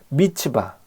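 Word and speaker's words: מצפה: 뜻입니다 여기에서 비롯된 단어가 미스바 입니다 미스바 는 원어 를 발음하면 밑이 바입니다 즉 망 보다는 뜻의 차 파 에서 비롯된 단어 이 죠 밑이 바 미스바 는 감차 라는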